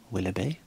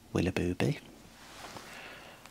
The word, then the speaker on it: Willoughby: Number two was Holly Willoughby, not Willoughby.